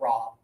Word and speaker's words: Rob: And this one here, no pressure. Rob.